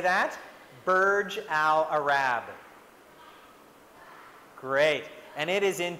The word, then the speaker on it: Burj Al Arab: or a Rabb and in this name it's pronounced Burj Al Arab can you say that Burj Al Arab great and it is in Dubai is this